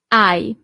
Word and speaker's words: hai: Tu hai. So you don't really pronounce the H at the beginning.